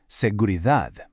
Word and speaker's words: seguridad: First, seguridad. The key here is that final D. We want a sharp D sound, not a soft th sound. Listen closely. Seguridad.